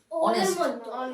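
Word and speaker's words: honest: উচ্চারণ হচ্ছে কি অনেস্ট, হ্যাঁ অ আসছে, ঠিক আছে। তখন কি হবে এন অনেস্ট, অনেস্ট তো নয়, কি হবে অনেস্ট, এন অনেস্ট। Like our কি হবে এন আওয়ার, ঠিক আছে।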